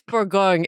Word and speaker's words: Bourgogne: Is it pronounced Bon or Bona? It's Borgong.